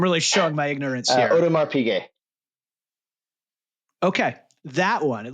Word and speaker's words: Audemars Piguet: My second question, for a good timepiece, a Rolex, a Patek Philippe, how do you pronounce the AP one? I'm really showing my ignorance here. Audemars Piguet.